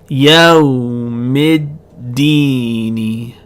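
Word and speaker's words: الدين: We're going to make the hamza also silent, and we're going to connect the meme all the way to the dal. Yawmiddini.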